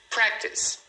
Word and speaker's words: practice: Practice então é uma palavra que você olhando parece que ela tem três sílabas, mas na verdade ela tem só duas.